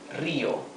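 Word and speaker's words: río: So if you have difficulties to pronounce it, you can pronounce first the first syllable ri and later o. Ri o. Rio. The accent is always where the tilde is, right? This word has a tilde, so we know that the pronunciation is Rio.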